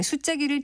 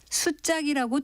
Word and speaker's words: 수자기: 위험을 보이기 위해서라고 합니다 이것을 수작이라고 된 소리로 발음하는 이유는 무엇일까요 수자기는 한자 장수 숫자가 쓰여 있는 깃발이라고 수자기 아니라 수작이라고 정확하게 발음해야 그것이 무엇을 뜻하는 것인지를 제대로 나타낼 수 있습니다 지금까지 바른말 고운말 아나운서